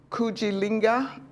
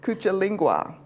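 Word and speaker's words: Kujichagulia: The second one is kujilinga. I said it wrong already. Kuchalingwa.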